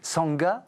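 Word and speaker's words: Shanga: Ça s'écrit S H A N G A, ça se prononce Sanga.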